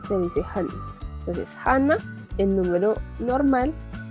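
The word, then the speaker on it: 하나: El número 1 se le dice Hana, como el nombre Hana.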